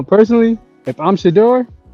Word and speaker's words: Shedeur: So, u personally, if I'm Shador, that's how you say his name. Shador. Shador.